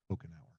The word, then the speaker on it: Couchenour: the way my La my last name is pronounced like drinking a Coke every hour Coke an hour Coke and hour that's a good way to remember it yeah well Scott thank